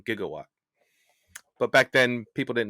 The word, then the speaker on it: gigawatt: been told Jose also jigawatts is now an obscure but once used pronunciation of the proper way of saying gigawatt but back then people